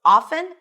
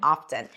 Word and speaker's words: often: However, we have seen that the t started to come back at some point. It started becoming a valid an acceptable pronunciation and now you'll hear both often and often.